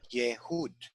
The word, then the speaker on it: Yehud: Yehud. So ye, first syllable. Hud, a close second syllable.